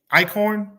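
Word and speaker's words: Eichorn: so your state senator Justin how do you pronounce his last name icorn ior thank you um during a age prostitution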